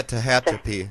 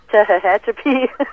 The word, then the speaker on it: Tehachapi: pretty much any kind of how do you pronounce it? Tehachapi Mountains in California. I don't know how you say that. Yeah, Tehachapi. Yeah. Tehachapi.